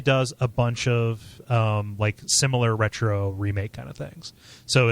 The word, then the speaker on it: Retreaux: It doesn't trade on kind of the easy stuff that a bunch of retro, and that's spelled RETREAUX, faux retro games, kind of do.